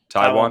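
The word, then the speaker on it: Tiawan: mullen and i i need to get the official pronunciation from jacob there taiwan tia one molon taiwan okay good good all right that's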